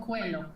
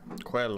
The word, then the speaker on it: Coelho: Coelho. Coelho. H is silent.